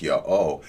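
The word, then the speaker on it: YHWH: High gives of himself, which of course I pronounce Yah-O.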